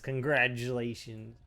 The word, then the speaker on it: congratulations: I Texans don't know how to say things. We say congratulated, but it's congratulated, right? Congratulate. Congratulated. There's no D. Yeah, like that's just a dumb Texas thing where we can't pronounce it. It's congratulations. Congratulate, I guess. Congratul That's why cuz congrat No, congratulations doesn't have a D either.